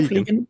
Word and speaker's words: Vliegen: And is it Vliegen or Vliegen or No, Vliegen, as you did, perfect. Vliegen, okay.